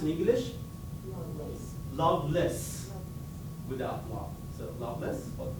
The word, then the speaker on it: Lovelace: And his name is interesting because it is pronounced in English, Loveless, without love.